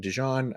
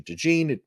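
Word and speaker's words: DeJean: Dee uh I think I've been saying dejon I found out that it's actually deene I don't really care either way but I'll try to say it properly um Cooper Dee I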